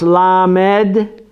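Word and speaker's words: ל: just a coof so we see the lawmen pronounce la med la med has to do with learning you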